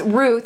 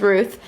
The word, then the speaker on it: Rut: Our host was Ruth. I kept calling her Rut because her name is spelled R-U-T, but I realized now it's Ruth.